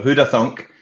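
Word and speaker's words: Hoodathunk: n k there's a thunk in there so huda thunk and pictures on the end so all one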